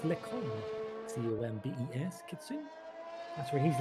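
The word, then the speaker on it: Les Combes: Oh, that will be, isn't that the Lecombe? I think I'm pronouncing that right. I will have the Frenchy kitty and chat if I'm butchering the French language, but I think it's Lecombe.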